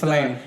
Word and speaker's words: Fellaini: The other one is, can you help me pronounce it? It's Marziano Fellini. Mariano Fellaini. He's Fellaini.